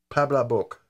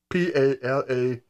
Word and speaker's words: Palabok: It looked like pancake, and I know what pancake is, but this one's called Palabok. P-A-L-A-B-O-K, Palabok. I think that's how you pronounce it.